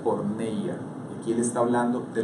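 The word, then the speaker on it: πορνεία: Todos esos pecados la Biblia los clasifica dentro de un término que se pronuncia porneia.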